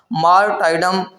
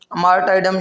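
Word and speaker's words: martyrdom: آ سکتا ہے مارٹائڈم، یہاں پہ جو دوسرا آر ہے وہ سائلنٹ ہے۔ مارٹائڈم، مارٹائڈم شہادت کو بولتے ہیں،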